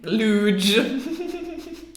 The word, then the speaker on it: luge: Luge. Like huge, okay?